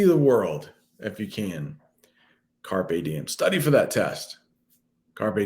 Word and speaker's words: carpe diem: little latin for you so carpe diem is how you say that carpe diem um i